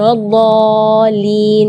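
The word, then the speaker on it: وَلَا الضَّالِّينَ: Di kalimat ini juga waladdallin yang perlu diperhatikan adalah madnya juga. Mad di situ kita harus panjang membacanya 6 harakat, karena di situ hukumnya mad lazim kalimi mutsaqqal, jadi membacanya waladh 6 harakat. Terus setelah waladh di situ ada huruf lam yang ada di atasnya ada tasydid.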